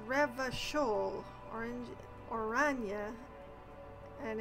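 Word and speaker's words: Revachol: another massive loading screen here we go it's pronounced rev shoal orange orana and it's pronounced classia i am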